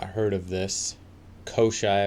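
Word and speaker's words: Koschei: Koshai, I believe is how you say it, the Deathless from Slavic origins.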